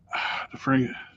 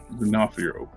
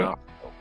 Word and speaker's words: D'Onofrio: How you pronounce it? Last name? DeFrio.